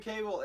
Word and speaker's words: Cavill: I don't even know if Henry Cavill knows. It's Cavill. Oh, Cavill. Yeah. Sorry, Henry Cavill. Sorry to be a Sorry. nerd, but yeah, it's pronounced Cavill.